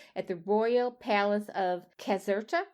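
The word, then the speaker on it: Caserta: the Royal Palace of Kazerta. So C is a hard C. C A S E R T A which is north of Naples Casera and that that beautiful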